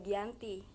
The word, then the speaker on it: Giyanti: tanggal 13 Februari 1755 nama Giyanti sendiri diambil dari lokasi penandatanganan perjanjian yakni di desa Janti dalam pelafalan Belanda ia tersebut sebagai Giyanti dan secara tertulis ia terbaca sebagai zat Gianti di tempat tersebut sekarang